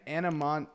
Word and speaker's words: Anemone: Let's move on from my nickname in high school and go to a name that I can't even pronounce. Anamon anemone.